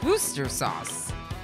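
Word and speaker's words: Worcestershire: Be Named I think different people pronounce it differently it's woster sauce booster sauce boo booster sauce damaged carbine has entered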